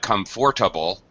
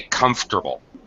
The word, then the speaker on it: comfortable: The word comfortable, as I speak it, you notice that it's not comfortable. The middle syllable is dropped completely. This is called ellipsis. We sometimes drop entire words. We sometimes reduce pronunciation. This is a case where we drop a syllable.